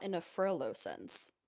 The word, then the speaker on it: Frollo: no, just you pronounce it differently than I've read it. Oh. How do you. Huh? Hang on, hang Froyo? on. Frollo?